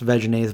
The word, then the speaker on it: Vegenaise: little ice cream sandwiches vegan ah I believe vegenaise came out after I was vegan 95 which it's actually pronounced vegenaise but come on vegan a sounds way better I talked about the